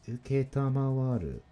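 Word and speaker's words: 承る: Number 3 is uketamawaru.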